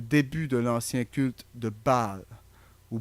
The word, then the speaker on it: Baal: Nous n'avons en fait même pas encore commencé, car c'est seulement la partie ancienne, le début de l'ancien culte de Baal, ou Béel, comme certains le prononcent.